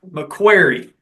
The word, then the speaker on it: McCreary: So that's how we're going to have to pronounce it from now on. McQuarrie.